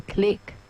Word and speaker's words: Clique: The Click. The Click.